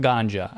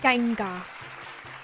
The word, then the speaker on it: Ganga: taking a bath in the genga river not ganja I had to I had to look up pronunciation on that he was like ganga it's alleged that the